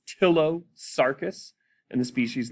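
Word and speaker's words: Ptilosarcus: the genus name is tillo sarkis the p is silent so it's tillo sarkis and the species name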